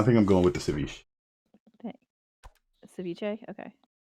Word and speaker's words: ceviche: I think I'm going with the ceviche. Ceviche? Okay. There's no accent on the end.